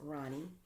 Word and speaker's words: Roni: my name correctly yes it is r o n i it is Ronnie because my legal name is ver Veronica so if you take off the V and the C A you're left with r o n i which is Ronnie yes so thank you